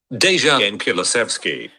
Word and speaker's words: Dejan Kulusevski: Let me just how do you pronounce his name again? 1 second. Dejan Kulusevski.